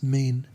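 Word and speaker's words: mien: countenance, but today his mean is sad and extremely trouble troubled. I think it's pronounced mean. M I E N.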